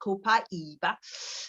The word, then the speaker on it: Copaiba: So one of the reasons why Copaiba is, in fact, so that's how they say it in the South America, Copaiba.